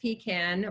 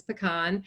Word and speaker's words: pecan: this through the grapevine I've heard that pecan is pronounced pecan which is unfortunate because it's pecan and then the town